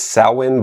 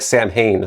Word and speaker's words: Samhain: And I know the correct pronunciation in Ancient Gaelic is Sin, but the band and its fans pronounced it like Sam Hayne, so that's how I'll be using it, too.